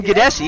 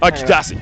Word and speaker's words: Gadasi: That's Aryan Gadesi. Is that how you pronounce it? Gadasi, yeah. Gadasi.